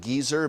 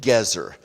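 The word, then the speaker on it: Gezer: We often pronounce it Geyser, but Gizer is also a rather impolite term for an older person, isn't it? So, uh I prefer the Hebrew pronunciation Gzer.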